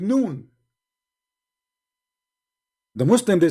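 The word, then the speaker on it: نون: Noon. Those are, noon, by the way, is not a word. You see, in Arabic, when we pronounce a letter by itself, we pronounce it as if it's a word, but it's not a word.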